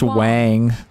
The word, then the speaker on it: Wang: It's pronounced Wang. And your system is error.